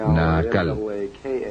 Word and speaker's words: Naacal: Se llamaba Naacal, N-A-A-C-A-L, o N-A-A-Cal, depende de cómo lo quieran pronunciar.